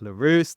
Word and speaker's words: Leruste: story to build trust and inspire action lar welcome to the podcast thank you first of all congrats on pronouncing my name properly I've got to say